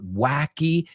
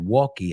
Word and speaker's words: wacky: Just be careful again with the word wacky. You said walkie.